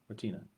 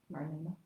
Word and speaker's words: Marlena: Marlena or Martina? Am I saying it wrong? Martina. Marlena. It's a T or an I? It's an L.